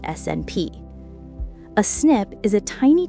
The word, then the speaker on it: SNP: The correct scientific term is a single nucleotide polymorphism, or SNP, pronounced SNP.